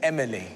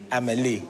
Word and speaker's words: Amélie: And if you note that they've recorded her name as Emily. Emily. Because they couldn't pronounce the Amélie. So they've anglicised it.